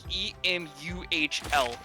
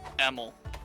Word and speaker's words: Emil: Like EMUHL is how he pronounced it, not Emil. Emil.